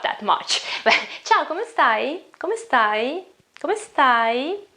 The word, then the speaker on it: come stai: much chalk I'm sorry come stai come stai it's not chuckle sigh it's come stai look at my eyes not come stai it is come stai okay you have to